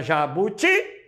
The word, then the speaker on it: jabuti: pegar a palavra jabuti a palavra jabuti é uma oxítona porque o tio é a mais forte Tá bem então isso